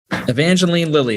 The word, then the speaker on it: Evangeline Lilly: lilly from the wasp that evangeline lily is that how you pronounce her name jake yeah thank you well